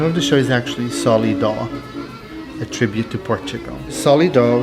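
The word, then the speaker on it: Solidó: the show is actually solly dog a tribute to portugal solidar which is s-o-l-i-d-o with an accent on the o the word sol means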